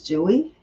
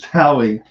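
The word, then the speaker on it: Dewi: Well, it says the way it's pronounced in Indonesia is Dowie. So it sounds like Dewey to us, but it's Dowie.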